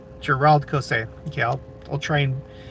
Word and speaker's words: Gérald Caussé: Um, Cameron Nielson says, "Gerald Cos." Uh, for you non-French speakers out there, emphasize second syllable for each name. Gerald Cos. Gerald Cos.